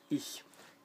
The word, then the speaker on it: ich: Alors, je se dit ich, I-C-H. Donc, le CH en allemand se prononce donc ch et pas ch. Il y a une différence à l'oreille et dans la prononciation dans la bouche.